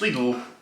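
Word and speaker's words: Lidl: hand these are tiny little protein shakes and it's 20 g of protein and now we're going to move on to little or pronounced lle if you're a geek now the only thing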